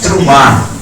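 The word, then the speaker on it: T'rumá: mas a pronúncia seria trum na realidade você pode até Traduzir por presente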